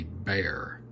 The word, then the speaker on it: Bexar: And they don't have the model listed on here, but this is called the Bear. And it's not B A R, it's uh B X A R, but they pronounce it bear.